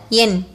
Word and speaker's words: என்: For yen, a is short sound vowel, in a consonant. Together, yen.